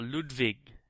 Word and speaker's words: Ludwig: Okay, so my first one is Castles of Mad King Ludwig, or Ludwig, if you want to say it correctly.